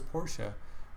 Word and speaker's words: Porsche: random let's say Porsche which is the correct pronunciation Porsche with the e on the end go to their website